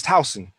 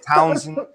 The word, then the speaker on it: Towson: you know like yeah it's not house it's towson but they're always like townsend uh what is this